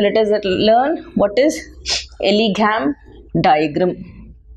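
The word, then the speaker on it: Ellingham: So let us learn what is Elegam diagram. N is silent here.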